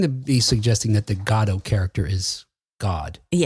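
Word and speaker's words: Godot: It turns out Becket was okay with anybody pronouncing the name of the play, however they did, but he pronounced it pronounced it Godo. And if you're familiar with the play, the fact that you, you know, emphasize the God part of it makes sense because there are some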